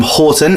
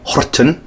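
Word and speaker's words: Horten: Maria then ring hime is from Horton in Norway Hutton as she pronounces Iroquois like that genre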